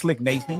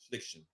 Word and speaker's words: Sliction: See, I knew it wasn't Slick Nation. I wasn't looking at that shit wrong. It's gonna be showing March 6th at the Boulevard, at the Galaxy Theaters and Boulevard Mall. Y'all looking, Reg. How do you say it, Reg? Sliction. That's SLICKTION. Yes, sir.